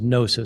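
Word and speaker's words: gnosis: The Greek word for knowledge is Nosa spelled with a G.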